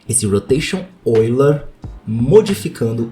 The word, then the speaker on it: Euler: Tá escrito Euler, mas pronuncia Euler, tá? Porque o nome do cara é de algum país maluco que pronuncia o E e o U como Oi.